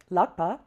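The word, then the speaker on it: ལག་པ: If we wanted it to be the longer word, lagpa, we would say la ga la ba. la ga la ba And then of course you can say lagpa at the end if you wish.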